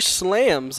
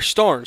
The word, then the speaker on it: Starns: We have Carter slams up to bat. Carter slams. Oh, Carter Starns. Sorry, I've been saying that name wrong for the past two games.